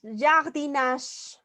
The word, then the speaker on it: jardinage: palabra, por ejemplo, jardinage, jardinage, la E no tiene sonido. Acuérdate que las vocales, todas van a ser pronunciadas al final de la palabra, a excepción de E. Entonces la E es como si no existiera. Entonces la G tiene que sonar solita. A ver. La G tiene que sonar solita. Entonces, se pronuncia jardinage, nash, ¿sale?